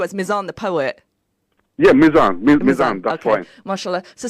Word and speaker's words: Mizan: Miriam, brother Mizan, have I pronounced your name correctly? Because I know you as Mizan the poet. Yeah, Mizan, that's okay.